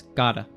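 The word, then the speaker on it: gotta: with a preposition but both are pronounced as Gada yeah and that basically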